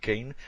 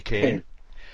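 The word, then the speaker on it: Kean: is it leslie kane leslie we always pronounce it keen but leslie kane yeah you're actually noted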